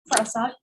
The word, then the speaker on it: phrasal: Phrasal, ¿cómo dijo que se pronunciaba? Phrasal. Ajá, PH se pronuncia como F.